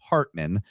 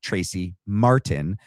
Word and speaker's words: Martin: I've been I've been mispronouncing her last name as Hartman. Um my bad. Tracy Martin.